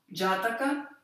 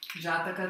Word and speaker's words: Jataka: Então, Jataka, aqui o preto não está funcionando muito bem, mas tudo bem, se escreve J-A-T-A-K-A.